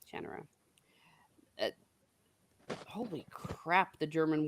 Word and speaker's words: Shannara: And before I forget, It's pronounced, I believe, Shannara. Shannara.